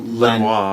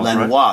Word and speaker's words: Lanois: 2010, produced by, if I say his name right, Daniel Lanois. Lanois.